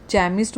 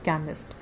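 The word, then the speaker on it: chemist: बहुत लोग इसको जो है ना चैमिस्ट बोलते हैं, बहुत बच्चे प्रोनाउंस करते हैं। इट इज़ not pronounced as चैमिस्ट, इट is pronounced as केमिस्ट।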